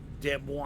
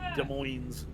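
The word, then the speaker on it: Des Moines: So, is it pronounced Demo? I'm just kidding. De Moines.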